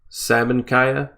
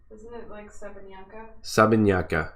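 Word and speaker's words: Sabancaya: at the Sabah kaya salmon kaya how do you say that Morrie it's been a long one for me today the volcano the volcano Sabine yucca yeah that's much better sobbing sobbing kya all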